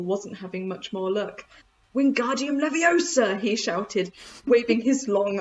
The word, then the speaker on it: Wingardium Leviosa: book um hermione says you're saying it wrong it's wingardium leviosa nick the gar nice and long oh my gosh you